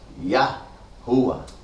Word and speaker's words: Yahuwah: Así lo pronuncian 7 veces en Yom Kippur. Yahuwah.